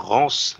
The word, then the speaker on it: Rance: Voilà, on devrait probablement aussi prononcer son nom à l'anglo-saxonne. On va dire Rance, c'est pas très beau, quoi. Il s'appelle Rance, les gars.